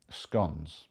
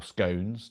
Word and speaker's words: scone: I can't remember how many years ago it was, they started doing chocolate, um, scon or scones, depending how you want to pronounce it.